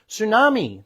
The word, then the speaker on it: tsunami: the K is silent tsunami the t is silent psychology the p is